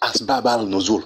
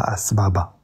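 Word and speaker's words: أسباب النزول: Donc, moi, j'ai dit Asbab al-Nuzul. C'est comme ça que je prononce ça. C'est pas Asbaba.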